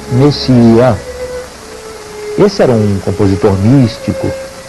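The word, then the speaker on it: Messiaen: escreve messiã. M E S I a E messiaã, digamos assim, que se pronuncia messiã.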